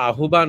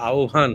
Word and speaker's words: আহ্বান: উচ্চারণ করেছে বলে উচ্চারণটা আহ্বান হবে না উচ্চারণটা আহ্বান হবে সবসময় যখন হয় বয় যখন থাকে তখন এটা আহ্বান গভর জিউভা এটা খেয়াল